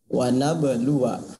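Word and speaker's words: ونبلوا: Wana belua. Ya, wana belua. Tulisannya panjang, maka dibacanya pendek.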